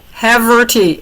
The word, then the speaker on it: Haverty: We'll blame it on I have to tell everybody that because everybody mistakes my last name as a Haverty cheese. Say it again. How do you say it? Haverty, Haverty.